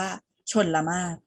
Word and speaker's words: ชลมารค: น้ำ นะ คะ อ่า คำ ๆ นี้ มี รอ เรือ อยู่ กลาง คำ เห็น ไหม คะ ชน ลำ มาก แต่ เรา จะ ไม่ ออก เสียง รอ เรือ เรา จะ ไป ออก เสียง ตัว สะกด ตัว สุด ท้าย เลย ให้ เอา มือ ปิด ร เรือ ไว้ แล้ว ไป สะกด ที่ ม ม้า สระ อา ค ควาย เลย นะ คะ เรา จะ อ่าน ว่า ชลมารค ต่อ มา คำ ที่